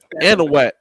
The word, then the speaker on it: Anahuac: Anahuac.